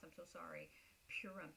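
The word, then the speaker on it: Purim: Um so they They celebrate and if I'm if I mispronounce I'm so sorry. Purum.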